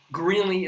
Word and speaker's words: Greeley: Greeley isn't that difficult because it rhymes with really and other things like that.